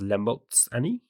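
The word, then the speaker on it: La mulți ani: I think it's pronounced Lemoltsani, which means like have many years.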